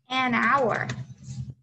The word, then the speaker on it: hour: okay next and so n is going to be used um for vowel sounds and silent h right so and awesome job an hour okay an awesome job